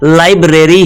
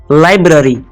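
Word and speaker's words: library: Next है, इसको यकीनन आप लाइब्रेरी ही प्रोनाउंस करते होंगे, लेकिन दोस्तों इसकी करेक्ट जो प्रोनाउंसिएशन है वो है लाइब्रेरी। लाइब्रेरी नहीं, लाइब्रेरी। मेरे साथ दोहराएं, लाइब्रेरी, तेजी से, लाइब्रेरी।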